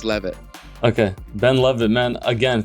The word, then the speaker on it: Leavitt: Is it Ben Levitt or Ben Yep, Ben you got it right Levitt? the first time. Yeah, I Okay. know it's confusing because that A always trips people out, but it's pronounced Levitt.